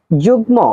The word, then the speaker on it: যুগ্ম: বাংলা পরিভাষা হল বিস্তার যুগ্ম শব্দের সঠিক উচ্চারণ কোনটি যুগ্ম শব্দের সঠিক উচ্চারণ যুগমু অর্নাবিল শব্দের বিপরীত শব্দ